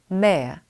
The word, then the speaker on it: mayor: 영국 성우는 R 발음을 누락할 때가 많아요. 그러면 mayor, 이게 시장님인데요. R 발음을 빼보세요. 그러면 mayor, mayor.